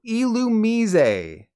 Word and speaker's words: Illumise: straightforward vole beat but if you thought this was called illumese or illumise you're very very wrong say it with me now illumise yes this is and always has been illumise the etymology only says